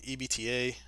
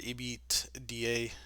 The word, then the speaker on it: EBITDA: zero point 0.3 million EBTA. Sorry, EBITDA. So I always pronounce that wrong.